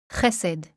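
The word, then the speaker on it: חסד: So once again, this is how this word is pronounced. Hesed.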